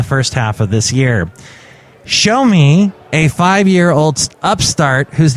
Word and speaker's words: Xiaomi: and Technology they're called show me it's well actually that's what the BBC says they should be pronounced but it is spelled x i a o m i uh some people say